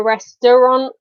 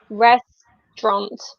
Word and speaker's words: restaurant: a restaurant exactly so really in spoken English I guess it's just two syllables we don't say a restaurant we say restaurant yeah absolutely we kind